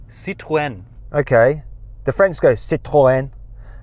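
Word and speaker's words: Citroën: you say it okay how do you say Citron citwen okay the French goes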